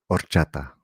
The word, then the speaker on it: horchata: But we don't say it like that, right? Just let go the H. Horchata.